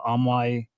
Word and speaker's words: AMAI: And there are people paying in that uh Ammoy tok.